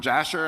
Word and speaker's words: Jasher: There's another story in Sefer HaYashar, the book of Jasher, as Americans would pronounce it.